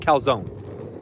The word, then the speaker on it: calzone: Bro, first off, some people say calzone. There's no way it's calzone, right? Right? There's like, I think it's the dumbest thing ever. It's definitely pronounced calzone. That E is not pronounced. I got some beef with people who are pronouncing that E.